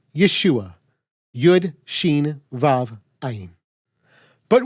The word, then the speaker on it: Yeshua: to complete the contraction by taking out the syllable ho and Contracting what's left we get Yeshua yud Sheen VAV aim